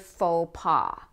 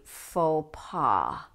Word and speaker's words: faux pas: Notice that the X and the S are not pronounced. They are silent, just as they are in French.